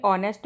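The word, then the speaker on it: honest: या का और इसमें ऑनेस्ट में साउंड क्या निकल रहा है? ओ का निकल रहा है। एच साइलेंट हो रहा है।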